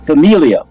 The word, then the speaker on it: familia: words and he gives some examples for instance Familia I think that is family did I say